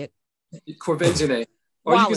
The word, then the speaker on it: Quvenzhané: but they are doing, except for I can't pronounce her name, Quvenzhané. Quvenzhané. You say it. Quvenzhané.